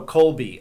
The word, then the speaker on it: Kolbe: know the people who we work with so Colby um a lot of May someone may not know how to spell that that so k o l b e that's correct k o b e um Colby and what is the co has do well